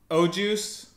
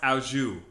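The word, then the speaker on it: au jus: can I get the French dip with extra o juice it's pronounced auju I'll have the chicken quesadilla it's actually quesadilla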